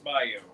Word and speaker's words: bayou: Scott Bayou, pronounced Bayo.